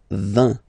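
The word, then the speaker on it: vingt: And the last one, so this G letter is here, but you don't pronounce it, okay? And then final T doesn't exist phonetically either, so basically you will only need to pronounce these 3 letters.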